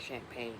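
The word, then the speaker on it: Champaign: It's not spelled like champagne you drink from falls, but it sounds like champagne, right?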